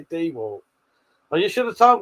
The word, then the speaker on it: DeWalt: The emphasis is on the first syllable D.